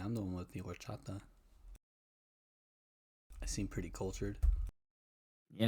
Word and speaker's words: horchata: The H is silent. Oh, Orchata. There we go. Orchata? Oh, yeah, it should be, yeah. I took Spanish. Should have known that. H is always silent.